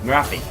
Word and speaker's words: Morathi: Yeah, Morathi. That's the way you pronounce it.